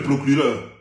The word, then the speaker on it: procureur: On ne dit pas monsieur le procureur. Parce que le R, ça se prononce.